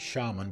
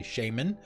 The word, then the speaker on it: shaman: yeah ABBA nuke shaman I've always pronounced it shaman but some people in the game say Shaymin bills a lo of